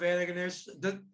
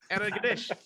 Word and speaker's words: Antigonish: How You many- have the accent on the wrong syllable. Yeah. I'll just keep going. I'll do as many Antigonish. Antigonish. We used to Usually have people say Antigonish. yeah, but you're way off.